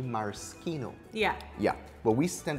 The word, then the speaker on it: maraschino: do you pronounce this maraschino so the proper pronunciation in italy is actually maraschino yeah yeah but we tend to say maraschino but in trinidad so